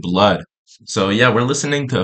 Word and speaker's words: bleood: So, uh, bro, today we gota react to a few, uh, blood. I think that's how we pronounce it. I know like it's written ble, but I think we pronounce it blood.